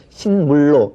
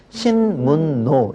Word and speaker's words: 신문로: 그래서 신물로 이렇게 발음합니까? 자, 이거는 아무도 그렇게 발음을 하지 않죠. 어떻게 발음하느냐? 신문노 그렇게 발음을 해요.